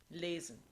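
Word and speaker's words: lesen: the letter s between two vowels is voiced meaning it becomes a z so going back to german lazen this is called an intervocalic rule um italian at the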